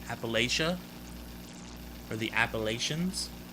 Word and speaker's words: Appalachia: 20th century labor disputes in appalachia that's it appalachia all right here anybody say appalachia for the appalachians it's not it's appalachians all